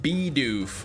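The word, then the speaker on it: Bidoof: It's pronounced beof like a beaver. Beoff and be barrel.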